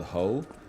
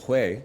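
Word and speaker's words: 회: But Korean sashimi is literally called ho. No, it isn't, okay? It's called hue.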